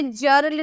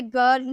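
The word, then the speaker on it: girl: लेकिन गर्ल में भी जी के बाद आप आई देकर इसे जर्ल नहीं पढ़ेंगे, क्योंकि इसमें एक्सेप्शन होता है, इसमें अपवाद होते हैं, इसमें ऐसा रूल लागू किया गया है कि इसे ज में हम नहीं प्रोनाउंस कर सकते। तो कुछ कुछ वर्ड है जो आपको याद रखने होंगे, गर्ल हो गया, गेव हो गया, ठीक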